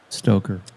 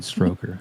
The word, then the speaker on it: Stoker: I mispronounced Stoker one time. I said Stroker, and never live it down.